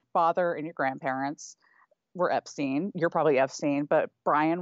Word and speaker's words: Epstein: but so Henry Epstein nephew of Brian says Brian pronounced it Epstein I don't know what